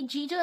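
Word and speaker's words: judge: Wait का भी जी जो लेटर है वो साइलेंट है। हाफ, हाफ का भी एल लेटर साइलेंट है। नी का के लेटर साइलेंट है और जज का डी लेटर साइलेंट है, और ऑनेस्ट का एच साइलेंट।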